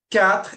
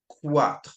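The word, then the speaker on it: quatre: So cat is for four. Make sure when you pronounce cat to not pronounce it quat. Okay. It's not a qu sound. It's c. So not quat but cat.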